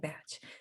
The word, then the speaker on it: Bach: combining buck i'm sorry i'm pronouncing his name wrong watch is it botch batch batch batch like batch match flower remedies and behavioral